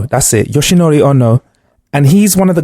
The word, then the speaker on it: Yoshinori Ono: Yoshinori Ono. That's it. Yoshinori Ono.